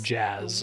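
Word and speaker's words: Jas: Hard for me to accept that that's pronounced like Jazz.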